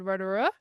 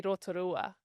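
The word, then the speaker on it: Rotorua: If I had my like actual moldy pronunciation turned on, it should be Roarua that I pronounce.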